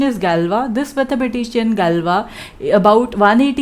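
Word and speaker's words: Galois: initially given by the fabulous mathematician which we pronounce by saying galva and not galves right or gallios right so the pronunciation is galva this mathematician galva about 180 years ago gave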